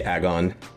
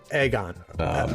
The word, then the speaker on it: AGON: how how do you say it I say agon agon one more time agon agon Aon uh I